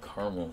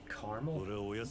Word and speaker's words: caramel: Well, it's got caramel in it. You say caramel? Mm-hmm. What about the A in the middle?